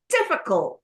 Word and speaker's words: difficult: Difficult is 3 syllable.